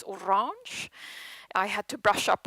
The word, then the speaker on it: Orange: obliged to say that in french it's not Orange it's Orange I had to brush